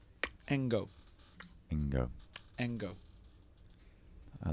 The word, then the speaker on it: Cengo: How do you think you pronounce that? Chengo? Nope. It's a Zulu name. You've got to do a click. Engo.